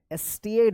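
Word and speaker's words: stayed: Days passed, days passed, Alex स्टेड, स्टेड होगा, STAY में ED लग गया तो स्टेड।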